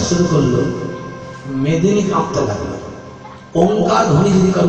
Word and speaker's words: ওঙ্কার: ওঙ্কার ধ্বনিটি নাদধ্বনি, নাভি অঞ্চল থেকে ওঙ্কার ধ্বনির উচ্চারণ হয়। অ যুক্ত উ যুক্ত ম, তিনটি অক্ষরের সমাহারে ওঙ্কার।